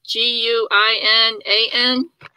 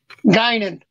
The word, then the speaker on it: Guinan: And this one is one I can't pronounce the name, so it's G-U-I-N-A-N. Guinan.